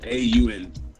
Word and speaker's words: Braun: B-R-A-U-N. Oh, Braun. That makes more sense. I thought you were saying Detective Brown. I was just saying it wrong, or weirdly.